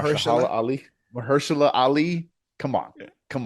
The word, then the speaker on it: Mahershala Ali: Marshala Mahershala. Ali.